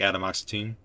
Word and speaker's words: atomoxetine: baby get it I'm spelled like Adam oxetine so you say atomoxetine let's spell it like atomoxetine ah okay I mean you say it like Adam oxetine but you spell it like atomized tea and I got you